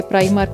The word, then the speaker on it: Primark: इसकी pronunciation according to different countries different होती है। समटाइम्स ये प्राई मार्क, लेकिन इटली में इसको प्री मार्क ही बोलते हैं।